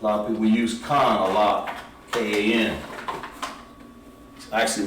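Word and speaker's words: כן: So yes, in Hebrew would be pronounced Khan.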